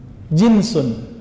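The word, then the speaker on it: جنس: Jinsun, jins. Pakai jeans nggak Pak? Itu beda lagi ya. Jeans itu bacanya ya. Kalau ini jinsun, jim nun sin.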